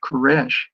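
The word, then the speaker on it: כורש: Cyrus in Hebrew is pronounced Kesh.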